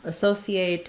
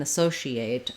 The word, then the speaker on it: associate: two different pronunciations here the only difference between um associate and associate are on what we say for this letter c so you can use an s sound associate or um sorry